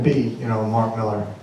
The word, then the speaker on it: Millar: So anyway, it just happened to be, you know, Mark Millar. I prefer Millar. I don't care. It's Miller, but I like the way it's spelled.